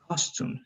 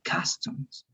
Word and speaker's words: customs: talking about clothes and you were pronouncing this as costumes right costume but costumes are clothing but i think you were not talking about costumes you were talking about the customs right and what is a